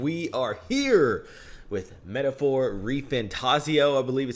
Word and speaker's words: ReFantazio: Hey, yo, everybody, it is Voltage, and we are here with Metaphor ReFantazio, I believe is how it's pronounced.